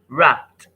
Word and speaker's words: wrapped: Now the next one is jump, jump, jump, wrapped, wrapped, wrapped. Now the ed here is pronounced as t, so we have pt, wrapped, wrapped.